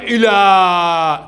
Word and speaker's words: إلى: لأنها تنطق إلى، تنطق ألف ولكن تكتب على صورة الياء.